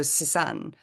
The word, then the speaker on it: Suzanne: And the first name is Afrikaans, so Suzanne.